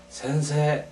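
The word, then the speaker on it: せんせい: 붙었어요 그러나 일본어에서는 반드시 센세 하고 이렇게 해야 됩니다 그다음에 이제 어 발음은 어 어 름은 어떻게 해야 되냐면 선생님은 센세 이렇게 해서 세가 이렇게 길죠 센세 그다음에 그 옆에 학생은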